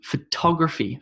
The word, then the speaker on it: photography: number one was b photography photography photography and you can hear that i'm emphasizing the top top photography photography photography considerably